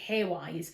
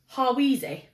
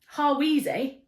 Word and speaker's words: Hawise: It's Hawise, and I always pronounced it Haywise because there was a character in a Elizabeth